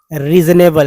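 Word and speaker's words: reasonable: तो answer, answer and the very रीजनेबल, री ज एस को जा बोलते हैं और ए बी एल को एबल बोलते हैं, ठीक है।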